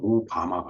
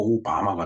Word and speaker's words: 小浜: 저 소병을 그러니까 훈독을 하면은 음독이 아니라 훈독을 하면 오바마가 돼요. 그 작을 소자가 이제 오자로 발음하고, 그다음에 그 병자가 이제 하마, 하마라고 발음하죠. 근데 오하고 붙으니까 오바마가 된 거예요.